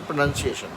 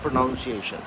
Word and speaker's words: pronunciation: So we say pronunciation, not pronunciation. So I'm doing my correction as well.